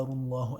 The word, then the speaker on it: Allah: Remember the Ra has a Dhamma, Rullah, and the name of Allah is full mouth.